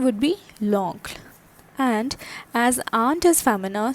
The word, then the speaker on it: l'oncle: Alright, so the pronunciation would be l'oncle.